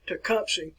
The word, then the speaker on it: Tecumseh: tecumseh and that's the way you want to pronounce his name tecumseh i sometimes referred to as a shooting star